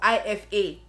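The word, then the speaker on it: Aoife: How is that IFA? IFA. If I was a Nigerian spelling IFA, I would have probably spelled it as E-F-A or I-F-A.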